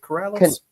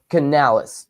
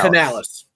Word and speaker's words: Canales: Is it Corales? Canales. Dave Canal. Canales.